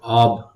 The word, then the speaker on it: of: এই যে OFF অফ, এটা হচ্ছে অফ, কিন্তু এই যে OF এটা কিন্তু অফ নয়, এটা অব।